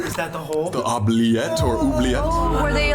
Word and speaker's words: oubliette: Oubliette!